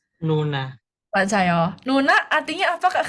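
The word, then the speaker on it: 누나: Berarti cara bacanya Nuna, baca Nuna artinya apa, Kak Gama?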